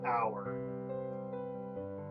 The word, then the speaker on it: Auer: should know that my real name is Auer. Auer is spelled A-U-E-R, in case you are confused, but yeah.